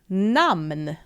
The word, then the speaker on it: namn: And in Swedish we pronounce it namn.